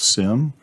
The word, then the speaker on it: SIEM: Then SIEM systems, pronounce "sim", AI takes platforms like Splunk, IBM Qradar, and Exabeam to the next level.